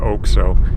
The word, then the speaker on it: OXXO: oak so oxxo but they pronounce it like oak so and this is a